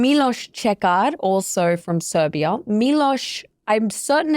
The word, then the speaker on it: Miloš: Miloš, I'm certain it's Miloš.